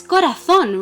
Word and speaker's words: corazón: It's corazón, right? The last syllable is the strongest, and that's why this is what we call una palabra aguda.